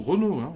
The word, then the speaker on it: Renault: Peugeot ou Renault il dit pas Peugeot ou Renault il dit un truc comme ça et bien